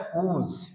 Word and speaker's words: whose: देखिए WHO ये आपने पढ़ा होगा, हु मीन्स तो होता है कौन, लेकिन SE जुड़ा है तो इसका उच्चारण क्या निकलता है? हुज. हुज.